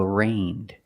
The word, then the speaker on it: arraigned: he was arraigned pronunciation the g is silent so it's pronounced like rain with a long a a arraigned the first syllable is not stressed it's pronounced arraigned what does it mean it